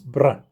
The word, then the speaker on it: Brandt: Now, the old Germans, they look down on it, but I'm gonna do my best and pronounce the name Brandt as best as I can in German. So here goes. It's Brandt.